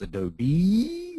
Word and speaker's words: Adobe: Okay, someone, Kent, saying it's pronounced Adobe with lots of E's at the end.